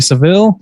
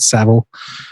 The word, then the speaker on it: Savile: new netflix documentary about jimmy seville savile excuse me i think they pronounce it savile um which is a